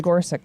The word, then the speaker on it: Gorsuch: How do I pronounce it? I think it's Gorsuch, yeah.